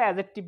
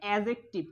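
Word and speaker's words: adjective: এটা সঠিক উচ্চারণ হচ্ছে অ্যাজেক্টিভ। কি অ্যাজেক্টিভ? অ্যাজেক্টিভ, ঠিক আছে। সঠিক উচ্চারণ কি অ্যাজেক্টিভ, নট অ্যাডজেক্টিভ, কারণ ডির উচ্চারণ হবে না, ডর উচ্চারণ কি এখানে হবে না, অর্থাৎ ডির উচ্চারণ এখানে হবে না।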